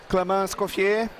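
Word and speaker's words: Clément Escoffier: I'm here today to interview a great friend, Clément Scoffier.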